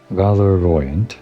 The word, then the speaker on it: Valorient: Valorient, like valorious, like valor, Valorient, Saint Valorient, sure.